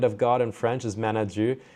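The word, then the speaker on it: Main-à-Dieu: God in French is Manadieu, and Manadieu, or Manadou as they pronounce it in Cape Breton, is where my mom's from.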